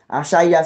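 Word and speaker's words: Achaiah: Achaya s'écrit comme ça.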